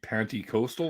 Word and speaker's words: Pentecostal: Sometimes I slip up and say Pentecostal, and I'm like, it's not a penny, it's penty. I'm pretty sure that's the correct Webster's way of pronouncing it. It's penny, like quarter, nickel, dime, penny.